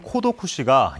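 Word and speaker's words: 孤独死: 나홀로 급증하면서 처음 등장했습니다 고독사의 일본어 발음인 코도 쿠시가 영어권 국가에서 버력 없이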